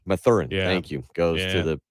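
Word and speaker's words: Mathurin: uh whose name i've already forgotten how to pronounce uh benedict oh my theorem my thurin yeah thank you goes to the other pacers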